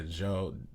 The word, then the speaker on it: Djo: And so I went through, and one of the other songs I found was like a song by Joe, I think that's how you pronounce it, DJO.